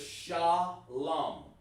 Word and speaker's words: shalom: the the fake camps they add a wah and they get that from the yiddish the messed up uh discombobulation of their version of how to pronounce it but the word is shalom type in the chat